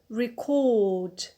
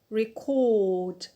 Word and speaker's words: record: next verb is the verb record record so here the stress is on the alt that is the last one why because we have